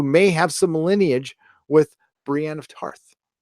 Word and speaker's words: Brienne: have some lineage with Brienne of Tarth a Brian of Tarth I would say Brant Brienne is I have a